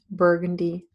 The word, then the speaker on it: burgundy: Burgundy also has the same sound as in purple, so the first syllable contains the same sound as does the color purple, but the second syllable contains an unstressed sound.